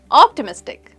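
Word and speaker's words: optimistic: की तरफ जो है ऑप्टिमिस्टिक ऑप्टिमिस्टिक एक फोर सिलेबल वर्ड है ऑप्टी मिस और टिक ऑप्टिमिस्टिक हम मिस इस सिलेबल पर स्ट्रेस देते हैं ऑप्टिमिस्टिक ऑप्टिमिस्टिक का मतलब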